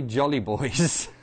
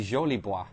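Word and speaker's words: Jolibois: susie jolly boys had i mean it's spelled j-o-l-i-b-o-i-s i guess in in french so it would be uh suzy jolie boi so suzy jolie boi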